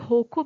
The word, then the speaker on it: hokku: हाइको जो है ये जैपनीज वर्ड है, और इसका इसको कभी कभी होको भी प्रोनाउंस करते हैं, HOKKU, और ये पोएटिक फॉर्म है।